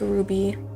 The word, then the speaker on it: RWBY: I'm not gonna get involved in that then pronounced Ruby I think I knew some people in high